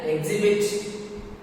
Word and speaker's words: exhibit: H is silent is the following words. Next, honor. Or rhyme. Vehicle. Exhibit. See here, these are the silent. Yes, silent.